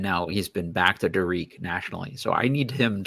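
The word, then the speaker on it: Dariq: came on and said it's d-a-r-i-q but it is pronounced Derek and he said that publicly and that lasted for like one day and now he's been back to darik nationally so I need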